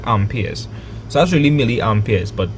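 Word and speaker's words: ampere: is measured in amps proper proper way to say it ampers.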